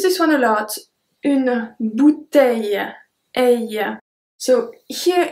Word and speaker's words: bouteille: we have LL, so bouteille, aille. Je remplis ma bouteille d'eau. Je remplis ma bouteille d'eau. Try really to focus on the length of the word when I pronounce it. Bouteille.